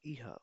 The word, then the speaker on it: Ihr: Then इहा, was ist इहा? इहा क्या है? तुम लोग। इहा मीन्स तुम लोग। इहा kommt, प्रोनाउंस में इहा kommt।